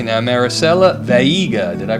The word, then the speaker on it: Veiga: I want to welcome to the couch here at Airborne, let me see if I pronounce correctly now, Maricela Veiga. Did I pronounce that correctly? Veiga. Veiga.